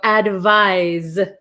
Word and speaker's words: advise: how you feel so advise advise so I'll write this is like an S and this is like a z why do they do